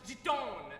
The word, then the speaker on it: Gitanes: It's pronounced giton, and I'm more of a Marlboro man myself.